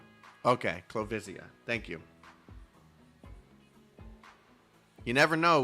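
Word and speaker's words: Clovisia: Island I've been looking forward to your arrival clesia clavia clavia pronunciation please the commander of londinium citizens self Ser salvation corpse clo visia okay clo visia thank you you never know with names from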